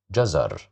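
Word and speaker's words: جزر: Jazzar. Jazar. Jazzar. Here we said J because of the fata. We pronounce it as jazar which means carrots.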